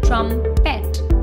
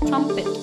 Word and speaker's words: trumpet: It is often incorrectly pronounced as trumpet. Please remember, P-E-T here will be pronounced as pit. So the correct pronunciation of the word will be trumpet.